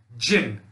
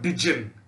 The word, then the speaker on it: jinn: D-J-I-N-N is pronounced jinn and not dijin. Okay, most of you have said dijin, which is wrong. Please correct yourselves. The correct way of pronouncing it is a jinn, which is short for a genie.